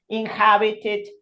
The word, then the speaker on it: inhabited: Remember that the H in English is a voiced consonant, unlike Spanish. Vieron que en español la H es muda. Decimos, qué sé yo, Horacio, Huerta, pero in English they pronounce it like nuestra J. Decimos human, inhabited.